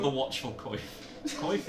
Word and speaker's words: Coif: Coif, is that how it's pronounced? Oh, call it quaff. interesting. Quaff. I think it's a quaff.